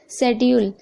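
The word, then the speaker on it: schedule: Okay, शेड्यूल, यहाँ पर भी आप देख रहे हैं एस के बाद सी है तो सी साइलेंट है।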